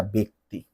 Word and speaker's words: ব্যক্তি: কিন্তু এই যে দেখো, এটা কিন্তু ব্যতীত নয়, ব্যতীত, এটা ব্যতিক্রম নয়, এটা ব্যতিক্রম, এটা ব্যক্তি নয়, এটা ব্যক্তি, অর্থাৎ উচ্চারণে এটা একার দিবা।